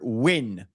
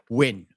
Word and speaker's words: Nguyen: win because n g y u n in America is win.